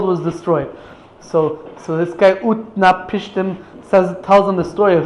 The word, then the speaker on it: Utnapishtim: The guy's name, I think this is the way you pronounce it, Utnapishtim.